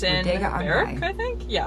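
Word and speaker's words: Berwick: But it's called Bodega on High, and it's in Barrack, I think. Yeah, Beric. It's spelled Bear Wick, but my mom told me that it's supposed to be pronounced Beric.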